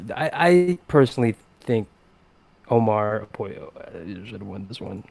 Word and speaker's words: Apollo: I personally think Omar apoyo I should win this one if I'm being honest that's Omarion yeah it's Apollo huh Apollo Loco I choose I choose to pronounce it Apollo um enjoy okay best